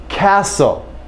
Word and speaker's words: castle: uh word like whistle castle some of my students they they think in a word like Castle the T must be very subtle it no it's gone there is no T sound Castle wrestle okay so in these